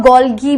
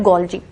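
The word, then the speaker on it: Golgi: गोल्जी को आप गोल्गी भी बोल सकते हो, बट it mainly pronounced गोल्जी।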